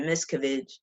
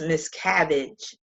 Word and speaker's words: Miscavige: his name I said Miscavige but it's pronounced Miscavige so I have to keep saying this cabbage so I don't mispronounce it so let's get into